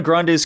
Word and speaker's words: Grande: I was hoping one of the names was just going to be like Ariana Grande. Yeah. Or Grand, as she pronounces it.